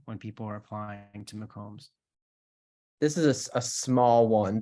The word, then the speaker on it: McCombs: bit of trouble pronouncing McCombs I hear people say mccoom's like it's you know Canon